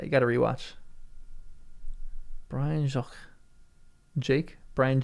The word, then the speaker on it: Jacques: Brian Jacqu Jake. Brian Jakes. Really? Is it pronounced Jake?